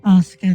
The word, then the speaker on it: Asuka: Asuka, the you and my name is silent.